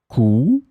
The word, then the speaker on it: cou: In this lesson, we will see together three words that are written differently but pronounced the same way. Coup, coup, coup.